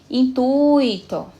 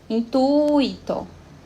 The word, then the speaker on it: intuito: Intuito. Intuito. Então, onde é que está a sílaba forte? Onde é que está a sílaba, a tonicidade da palavra, a sílaba tônica? Exatamente, no tui.